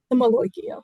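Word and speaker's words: malocchio: The maloikia, which is, I guess, the correct pronunciation Yeah.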